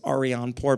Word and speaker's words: Arianpour: can find me on LinkedIn they spelled my name wrong it's Ariane poor but first name Artie just type in